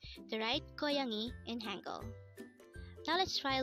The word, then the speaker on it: 고양이: 고양이, 고양이.